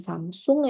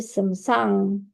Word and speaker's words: Samsung: Akhirnya Samsung ee kita bilang Samsung sih bacanya bukan Samsung ya. Tapi Samsang G ya karena bahasa Korea.